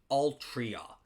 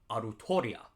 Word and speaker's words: Artoria: fake Grand order with Altria we in the community we refuse uh most of us refuse to refer to her as anything but artoria okay because in Japanese it's pronounced arutoria uh but apparently what